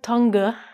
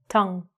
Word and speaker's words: tongue: So first of all, the pronunciation of this word is a little crazy, a little difficult. It looks like tonga, but it's actually just tong. So practice that first. Tong.